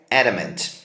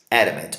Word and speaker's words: adamant: Sem enrolação, vamos começar com o primeiro, que é adamant. Adamant, olha a pronúncia dele, ó. Adamant. Adamant. Esse Ezinho é bem fraquinho, tá?